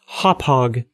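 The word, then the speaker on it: Hauppauge: I've got I was going to say Hopage, but I remembered last time that someone told me it was pronounced Hophog.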